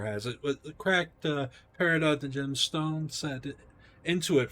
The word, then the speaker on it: peridot: Upon the altar gleams a tarnished gold circlet bearing a cracked peridot.